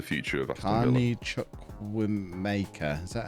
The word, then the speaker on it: Chukwuemeka: Carney Chukwuemeka. Is that how you say his name? That'll do, yeah. Mecca, I think, but yeah, rather than Maker.